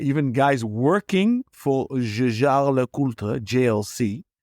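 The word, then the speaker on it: Jaeger: working for jarra jlc is it jger or jar oh no yeah we're we're going to go off topic with this but I can I can confirm that it's there's no Jagger there all right because we're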